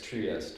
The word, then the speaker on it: Trieste: Yeah, it's Trieste, right? Yeah, it's pronounced different.